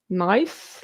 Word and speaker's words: NICE: in England pretty sure we pronounce the NIST guidelines as nice like ice not necess in kiss